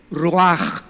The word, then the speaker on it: ruach: apunta la palabra espíritu la palabra hebrea ruach tal como suena ruach se pronuncia inmediatamente qué notamos aquí